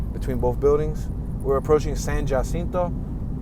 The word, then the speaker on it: San Jacinto: We're approaching San Jacinto. It's spelled Jacinto.